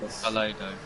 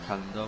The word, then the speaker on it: Calado: No, it's Calado, not Calendar.